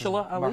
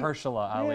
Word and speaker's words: Mahershala Ali: I can never pronounce Mahershala Ali? Mahershala Ali, Yeah.